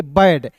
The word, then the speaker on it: bad: तो BAD को क्या पढ़ेंगे, बैड, इसे बाद नहीं पढ़ेंगे, इसे क्या पढ़ेंगे दोस्तों, बैड पढ़ेंगे। जैसे आप लोग यहाँ पे